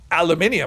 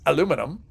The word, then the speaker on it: aluminum: I say it, well, I would say that as aluminium, but that's not what it is here. It's spelled differently depending on where you are in the world. So I pronounce it how I always pronounce it how it's spelled. And if you look at the spelling in the game, which is not aluminium, it's aluminum. And that's all we're going to say about that.